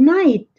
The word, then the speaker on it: night: GH em inglês muitas vezes é mudo. Por exemplo, good night.